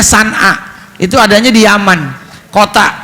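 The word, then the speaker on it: صنعاء: Maka kata Nabi, nanti Allah pasti akan membagikan agama ini, mengembangkan agama ini hingga merata dari mulai Son'a, tulisannya Son'a, bacanya San'a, itu adanya di Yaman, kota namanya Son'a, sampai ke Hadrul Maut, ya, sampai kota Hadrul Maut.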